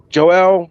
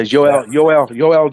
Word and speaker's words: Yoel: I think Joel, or how we pronounce Judah's dad's first name, is in Yep.